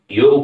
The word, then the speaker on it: योग: जैसे भारत की योग है, आज योग कम लोग बोलते हैं, सब योगा योगा बोलना शुरू करती हैं, लेकिन वो सही जो उच्चारण है वो योग है।